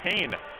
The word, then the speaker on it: Kean: on the outside and Keen have gone and Kane have gone on another 3.3 now excuse me if I've said Keen a couple times but they're quite literally fell Keen but pronounced Kane I kid you not